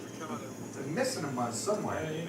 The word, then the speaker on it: Ricciardo: Daniel Ricciardo, who I did ask when he first came to the Formula One, how do you pronounce his surname? He said Ricciardo.